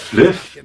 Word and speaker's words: Fliff: Da spricht man doch nicht Fly aus, du Vollidiot. Das heißt Fliff.